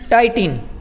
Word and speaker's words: titin: ये एक प्रोटीन का नाम है जिसका शॉर्ट फॉर्म है TITIN, टाइटिन।